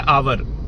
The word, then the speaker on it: hour: अब वर्ड जो है आवर, उसके शुरू में लगा हुआ है एच, तो कायदे से तो वो कॉन्सोनेंट है, तो ए लगना चाहिए। बट एच साइलेंट है, एच का साउंड नहीं आ रहा।